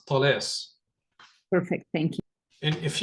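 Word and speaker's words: Talas: of that battle in Arabic for me it's Tes perfect thank you and if you want to look it up it's spelled t a l a s or in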